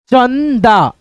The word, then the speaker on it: चंदा: जैसे यहां पे देखो अंक अंक चंदा चंदा। ठीक है? इस बिंदी को हम लोग न पढ़ते हैं। चन च न द चंदा ऐसे करके संजना संजना